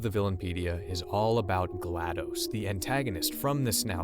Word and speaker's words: GLaDOS: of this character's name i personally have always said glados kind of like os operating system i know many people say gladys but the name itself